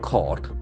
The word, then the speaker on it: court: Can see the pronunciation is very interesting. Court. Court. There is no use of that U and R.